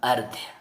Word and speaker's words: अर्ध: और उसका उच्चारण हमेशा इस आधे वाले अक्षर से पहले होगा। तो ये क्या हो जाएगा, अर्ध, अर्ध।